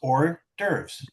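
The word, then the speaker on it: hors d'oeuvres: Um I don't know why I cannot pronounce that word, but it's like two syllables or derves.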